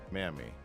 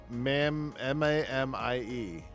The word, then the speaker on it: Mamie: Mammy. Did I say ma'am? No, it's M-A-M-I-E. Pronounced Mamie? Oh, I guess that makes sense. Mamie.